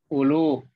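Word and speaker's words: أولو: Hurufnya ditulis tetapi tidak dibaca. Seperti ulu.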